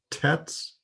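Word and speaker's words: ט: Let's look in our text and see how many teths, how many tavs we can find. Tet is the other Hebrew letter that has the T sound. So the tet and the tav are pronounced the same.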